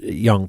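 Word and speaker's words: Jung: of it's j n g is how you pronounce it's young but like Psy psychologist Carl Young kind of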